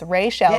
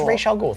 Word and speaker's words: Ra's al Ghul: It's Ra's al Ghul. Yeah, it's Ra's al Ghul.